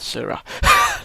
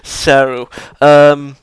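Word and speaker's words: Seryu: No, not Sura, not Sura. Seru.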